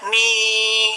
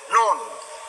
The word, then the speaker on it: Nun: Ada lagi Nun. Bagaimana bacanya? Kita dengar guru membaca, jangan kita baca Ni, tidak boleh. Atau Nu, tidak boleh.